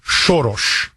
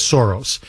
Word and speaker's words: Soros: John no look um it's okay it it's pronounced in Hungarian shos okay it's anglicized as Soros shos is a as anybody of Hungarian descent